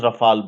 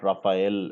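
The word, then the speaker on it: Rafale: T which country is Rafal originally from it's pronounced as Rafal the way it's not rafhael as you know it's not a e l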